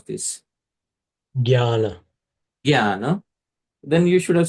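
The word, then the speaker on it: ज्ञान: Actually, the pronunciation is jnana, jnana. That nya is a nasal sound, jnana.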